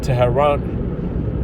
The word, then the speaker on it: Tehran: All right, okay, them small hot, okay, just attacked carried out attack on Iran, its capital city, which is Tehran.